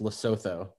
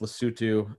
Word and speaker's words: Lesotho: it phonetically this country looks like it's it's pronounced lesotho but it's pronounced lesotho it's it's the little small country in the